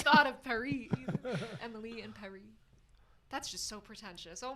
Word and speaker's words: Paris: you're supposed to know you're supposed to pronounce Paris so that it rhymes with Emily so like Emily and Perry and then I well